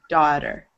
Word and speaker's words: daughter: The vast majority of the time, it's pronounced like ah, daughter.